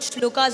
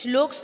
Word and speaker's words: shlokas: Yes, so it's a common misconception that it's called shlokas and mantras. It's shloks and mantras.